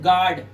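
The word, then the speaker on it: guard: जैसे यहां पर देखिए यू के बाद ए आया साइलेंट कर दो। पढ़ेंगे सिर्फ गार्ड यू साइलेंट हो गया।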